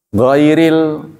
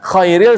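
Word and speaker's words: غير: Kha, ya, cara itu kha, gha, kha, gha. Ghairil, khairil. Kalau Anda baca ghairil, tidak. Khairil sebaik-baik. Beda. Hurufnya kembar, tempat keluarnya. Khairil artinya sebaik-baik. Kalau ghairil bukan. Ghairil maghdub, bukan yang dimurkai. Tapi kalau bacanya salah, khairil maghdub, sebaik-baik yang dimurkai. Berbeda itu.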